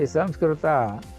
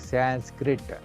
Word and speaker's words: Samskruta: See, Samskruta, what we normally use or pronounce. The English speaking people have changed it to the word like Sanskrit.